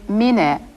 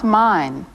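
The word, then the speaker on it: ミネ: Be sure to pronounce his name Mine, not mine.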